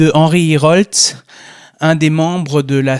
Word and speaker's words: Hierholz: C'est bien, je prononce bien votre nom? Oui, Hiroltz, c'est ici bois.